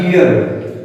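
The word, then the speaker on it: gear: अब वो हमारे गियर था जी ई ए आर, ई भी वोवेल और ए भी वोवेल, तो डबल वोवेल हुए तो उसका प्रोनाउंस क्या है गियर, ग हो जाएगा।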